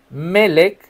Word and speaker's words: Melec: Entonces el rey ordenó a Ebet Melek, Melek, acento en la primera e toma 30 hombres contigo y saca del pozo a Jeremías antes de que muera.